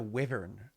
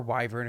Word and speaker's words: wyvern: realize that it's a wyvern uh that's up there um you realize that it's a wyvern um uh or why vern if you choose to pronounce it that way um it does